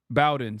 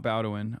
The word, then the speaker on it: Bowen: Bowen, sorry, not Bowin. I always say it wrong.